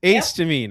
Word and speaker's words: Acetamine: Uh we're here to talk about accetoine. Correct. Ace to mean.